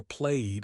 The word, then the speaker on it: played: This is where played is a massive error. It's just played. Rhymes with made.